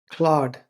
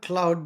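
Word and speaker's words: Claude: um oh it's a Latin word how to pronounce Claud not Cloud but Cloud as as as like a claw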